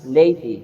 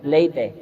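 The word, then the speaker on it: laity: Lady pronounc as lat not late.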